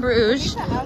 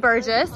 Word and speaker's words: Bruges: all of it's pronounced i understand bruges although before i left i definitely said burgess because i read it wrong i thought it was called burgess but it was not anyways so this sweet